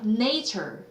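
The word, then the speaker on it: nature: 됐어요 그래서 6 내의 말했나요 내처 아니에요 네이처 on how teo 아이는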